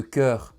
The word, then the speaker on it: chœur: Quant au ch, ch, il n'existe que peu de mots dans la langue française dans lesquels il est prononcé que, comme par exemple le chœur d'une église ou encore un orchestre symphonique.